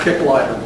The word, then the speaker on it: Kicklighter: spell it today is is spelled this way but it's pronounced kick lighter maybe kick a lighter but it's pronounced basically